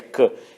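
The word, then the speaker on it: Caen: cidade e se inscrevem francês cair mas se pronuncia cá e só não está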